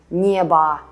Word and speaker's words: небо: And when we say небо, мясо, пиво, we hear a at the end.